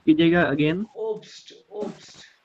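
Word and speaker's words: Obst: ये सर, ये फ्रूट को प्रोनाउंस कीजिएगा अगेन। ओब्स्ट, ओब्स्ट, ओप्स्ट। हाँ ओब्स्ट।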